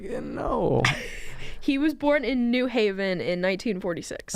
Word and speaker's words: New Haven: Oh, you say New Haven? Ew. I never heard of how do you say No. it? You were saying it right. You're just saying New Haven instead of New Haven. New Haven. That's like saying New York.